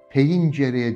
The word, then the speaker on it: pencere: Pencereye, E kapalı, E'den sonra bir Y ünsüzü koyun. Peyincereye diye okuyun, eğer pencere diyorsanız dahi yaklaşamazmışsın.